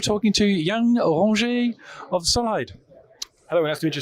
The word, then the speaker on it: Solhyd: I say it right, Solhyd or Solid? How do you say your company name, and tell me what you do? It's Solhyd. It's a Solid company, of course.